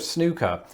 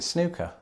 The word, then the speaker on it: snooker: firstly the sport of snooker just isn't very popular in the united states but when the word does come up you don't pronounce it snooker i say snooker i guess but i